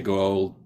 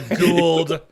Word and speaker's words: Goa'uld: I've been trying to say Goa'uld properly for forever, and I still can't say it right. So it's just, Goa'uld is technically, but everyone messes with it.